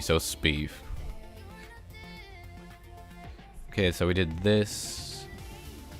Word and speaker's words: Sbeev: It's just Speeve. It's a Star Wars reference. So Palpatine's first name is Sheev, and I replaced it with a B.